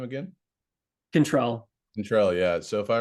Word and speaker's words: Chantel: So Chantel, how to pronounce his first name again? Chantel.